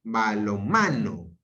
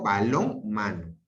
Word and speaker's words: balonmano: Yo digo balonmano. Yo no digo balón, mano. Digo balón, mano. Diferente. La pronunciación es diferente. Yo digo balonmano. Yo no digo balón, mano. Es distinto.